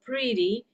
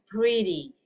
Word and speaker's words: pretty: Yeah, you guys going to pronounce that as like a D, okay? Jadi dilafalkan seperti huruf D dalam bahasa Indonesia, okay? Like this, we pronounce that as a pretty instead of pretty or pretty, okay?